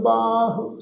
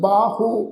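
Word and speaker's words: ਬਾਹ: आ जान बाह, इस शब्द का जोड़ा पाठ आ असी बाहू इस ढंग नाल उच्चारण नहीं करना। हाहे पैर जी लगी हुई औंकड़ है उसका उच्चारण नहीं होएगा, इत्थे उच्चारण करांगे बाह।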